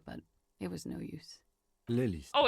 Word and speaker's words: Lelystad: Lelystad. You gotta pronounce the E.